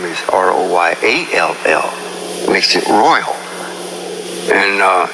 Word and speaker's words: Royall: everything that is then proper pronunciation of my name is royal not royal okay and the reason why that is if you if it was ro y al it would be royal however if my dispelling